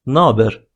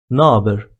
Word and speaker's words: naber: In an informal way, you may pronounce it like naber, naber, by omitting h sound and sticking them into each other, naber.